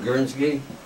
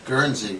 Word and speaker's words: Guernsey: special guest here today gorinsky that I you pronounce it guernsey but Guernsey I'll accept that I was close but no cigar so we start out